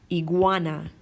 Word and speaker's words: iguana: Gogu okay for example iguana iguana we have that nice good sound iguana or my god go